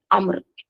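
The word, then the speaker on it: عمرو: देखिए आपको ना कभी-कभी जब आप बुक्स पढ़ेंगे ना तो अम्र इस तरह की स्पेलिंग मिलेंग यानी उम्र जब हम पढ़ते हैं आइन मीम र उसके बाद छोटा सा वाव रहता है। ठीक है? तो वो असल में रहता है अम्र।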